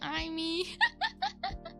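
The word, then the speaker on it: zia: like oh Auntie iy it it's spelled z i a that's the Italian spelling but it does sound like Tia which I know is like Spanish hello welcome welcome thank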